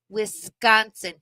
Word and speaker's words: Wisconsin: Wisconsin a lot and it's Wisconsin you got to drag out the S and hit that k sound wiconsin say it right